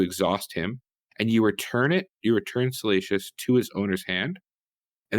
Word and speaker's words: Salacious: Salkius Crumb? Salacious. Salacious. See, this is always Fate's pronunciation of Star Wars characters is always a mixed bag.